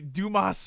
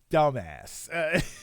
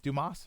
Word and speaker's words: Dumas: bosses right so uh oh it's pronounced dumbass well I don't think the guy that wrote The Three Musketeers wants it pronounced that way um right that was his name Dumas right wasn't that his name um but yeah